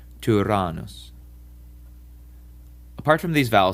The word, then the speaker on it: Tyrannus: French word tu or in the German über. This vowel was borrowed from the Greeks and is often used only in Greek words in place of the upsilon. Apparently, Latin speakers also had problems pronouncing this vowel correctly, and its sound changed to more like an E. Nevertheless, we should try to pronounce it in the classical way. So, Tyrannus.